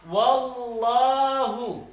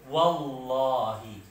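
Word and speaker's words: وَاللهِ: I'rab majrur, yaitu wallahi. Ya, wallahi. Tidak boleh wallaha wala wallahu. Limada?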